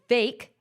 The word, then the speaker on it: Vake: type of guy that vake which rhymes with cake was describing when he